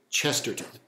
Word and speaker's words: Chesterton: chesterson not chester son chester chester g k chesterton distributism um chesterton was an early late 19th